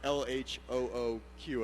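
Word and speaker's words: L.H.O.O.Q.: there you go and when pronounced phonetically that means she's got a hot ass right and I a nice ass um so this is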